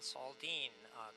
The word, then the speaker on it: Saldin: Saldin, good morning, sir. Did I say it right, Saldin? Yes, Saldin, Commissioner. That is correctly. That's how you pronounce it.